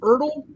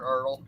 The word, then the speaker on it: ERTL: Is it pronounced Ertl? Ertl, yeah. Or do you spell it out? I've always heard Ertl.